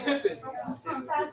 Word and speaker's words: Pippen: Spelled P-I-P-E-N. Pippen.